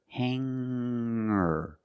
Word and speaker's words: hanger: When I change these words with ER, I don't pronounce the G sound. It's just the nasal linked together with the Together, hanger, hanger. There's no G sound.